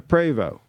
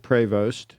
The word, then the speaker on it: Prevost: Look at a Prevost. Some people pronounce it Prevost, but it's supposed to be Prevost.